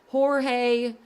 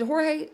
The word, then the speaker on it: Jorge: and Jorge is it Jorge is that how you say his name I always say it wrong I think I think it's hooray instead of George but I think it's